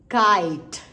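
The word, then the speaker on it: kite: को क्या बोलना है अब आपने ई को नहीं सुनना ई साइलेंट हो गया बट आई आई ही रहेगा लाइक क आय ट काइट काइट क्लियर है तो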